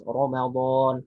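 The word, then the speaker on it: رمضان: Jadi misalnya ada lafaz Ramadan. Kenapa ro-nya dibaca tebal bukan Ramadan? Kalau Ramadan ya bahasa kita. Jadi kalau di dalam Al-Qur'an mesti dibaca ro, bukan ra.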